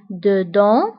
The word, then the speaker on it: dedans: dehors dehors donc داخل dedans خارج dehors وانتبهوا ايضا بالنسبه ل dedans و dehors كنكتبوهم باس اخر الكلمه ولكنها لا تنطق dedans dehors داخل خارج